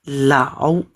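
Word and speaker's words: 老: Tapi ini bacanya lao ya.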